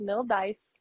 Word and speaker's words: Mildice: It's pronounced exactly how it's spelled, Mildice.